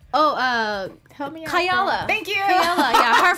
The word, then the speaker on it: Kayali: Kayala. Thank you. Kayala, yeah. Her fragrance line. Yeah. The Middle Eastern girl. Like, yeah, no, I hope I said it right. But yeah. Kayali. Kayali, yep.